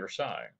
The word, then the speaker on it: Versailles: The Treaty of Versailles, this is how it's pronounced, Versailles.